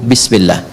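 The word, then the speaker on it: بسم الله: Asalnya ini ada alifnya di sini dari kata ismun. Begini. Asalnya bismillah. Dibaca nyambung bismillah. Dan cuma di bismillahirrahmanirrahim alifnya hilang.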